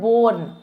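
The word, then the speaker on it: borne: ते नाल हो है बोर्न ई साइलेंट हो है बट ईदा मतलब होता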